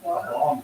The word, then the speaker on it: bang: They call it a bong stick. It's spelled BANG, but it's pronounced bong.